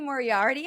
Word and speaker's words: Moriarty: Morardi.